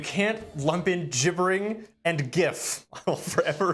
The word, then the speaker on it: GIF: I actually know it is GIF, and anyone who says otherwise is a monster. And Graphics, let the record- interchange, format. graphics. No, Commodore Frost just said it's pronounced like GIF with a J.